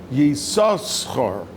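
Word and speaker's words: Yissachar: That's why the Balkany, when Yisachar was born in Parshas Vayetze, we pronounce it with both shins, Yisachar.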